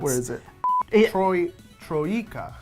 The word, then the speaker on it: Troika: So Vampire the Masquerade was made by Torok. It's a really hard name to pronounce. Where is it? Troika.